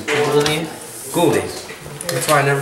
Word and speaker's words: Gulde: Gulde. Gulde. That's why I never try to say it. I read it, I'm like, is that Gildy?